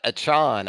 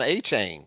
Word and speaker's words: Achane: Devon Achane. I guess that's how he pronounces it now. I was going on A-Chain. Well, he told us A-Chain. And now it's Achane? Did he switch it?